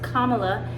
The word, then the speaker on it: Kamala: I didn't know it was Kamala until just the other day when someone said it's comma, like the punctuation mark.